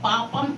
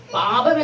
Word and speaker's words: പാപം: നല്ല വാക്കാണ് പറയാൻ പറയുന്നത് പാപം എന്ന് പറയുമ്പോഴേ ആദ്യത്തെ അക്ഷരം ഇല്ലേ പ ആ പ ഉച്ചരിക്കുന്ന പോലെയാണോ രണ്ടാമത്തെ പ ഉച്ചരിക്കുന്നത് അല്ല വ്യത്യാസമുണ്ട് അല്ലേ ആദ്യത്തെ പ എന്ന് ശരിക്കും നമ്മൾ അക്ഷരം പഠിക്കുമ്പോൾ ഉള്ളത് രണ്ടാമത്തെ പയും ബായും തമ്മിൽ എന്താ വ്യത്യാസമുണ്ടോ വ്യത്യാസം തോന്നുന്നില്ല അല്ലേ പാപം എന്ന്